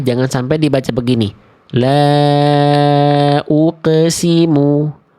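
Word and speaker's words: أقسم: Beda antara uqe dengan uqo. Ya. Kalau dibacanya uqe nanti sama kayak huruf ba jim dal. Ba jim dal adalah huruf qalqalah yang karakternya tipis. Makanya dibacanya kan ab, aj, ade. Ya enggak? Karena mereka tipis, teman-teman. Karena mereka tipis. Kalau qaf nggak dibaca ake.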